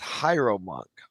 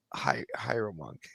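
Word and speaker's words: hieromonk: He's pronounced hierro monk. I was hyro monk.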